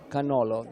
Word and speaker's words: cannolo: He first at all described this kind of cannolo.